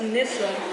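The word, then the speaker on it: Nyssa: It's Nissa.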